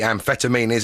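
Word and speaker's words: Amphetameanies: It's like amphetam... No, it's not actually like that, is it? Ampheta, like amphetamines, MEANIES.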